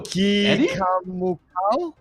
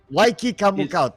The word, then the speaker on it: Waikikamukau: Who? Kikamukau? Waikikamukau. Waikikamukau, thank you. Yes. I love the name. It's very unique. But yes, Waikika. 5 syllables, man.